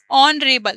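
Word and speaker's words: honourable: यहां पे ये द यूनिवर्सिटी इनवाइटेड ऑनरेबल जज ऑनरेबल तो प्रोनाउंस जो हम करेंगे उसके थ्रू यहां पे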